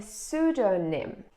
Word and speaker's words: pseudonym: it okay next word the same rule for P for p silent silent p good this is a pseudonym a pseudonym for example